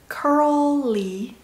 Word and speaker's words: curly: curl이라는 단어의 curl 발음을 정확히 먼저 해준 다음에 li 찢어야 돼요. curly, curly.